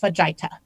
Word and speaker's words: fajita: And I believe that the food you are trying to describe is pronounced fajita.